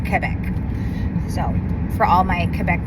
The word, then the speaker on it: Quebec: And I realized also that I've been pronouncing Quebec incorrectly this whole time. It's not Quebec, it's Quebec.